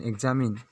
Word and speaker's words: examine: अगर हम लोग इसका इंग्लिश का लिखने जाते हैं तो होता है इसका EXAM प्लस, इसे काट दिया जाए EXA+MIN, एग्जामिन।